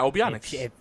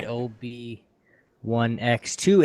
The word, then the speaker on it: OB1X2: Yeah, Obionics. No, she didn't say Obionics. She said OB1X2.